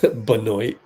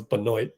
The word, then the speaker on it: Benoit: Benoit. That is not how you pronounce Benoit. Benoit. Benoit. Benoit Benjamin. Not Benoit, but he called himself Benoit.